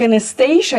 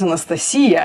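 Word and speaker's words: Анастасия: It's like Anastasia is Anastasia in Russian.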